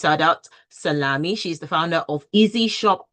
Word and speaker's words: Saudat Salami: Well, first off, let me say her name properly. Her name is Saudat Salami.